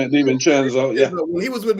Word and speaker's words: DiVincenzo: Well, but I think also the Knicks have had people step up in a big way because DiVincenzo, I think I pronounced his name, DiVincenzo, yeah.